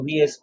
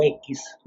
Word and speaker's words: X: federales bajo el título 10 o x lo he visto pronunciado de ambas maneras o leído ambas maneras es el 10 en números romanos eh que es el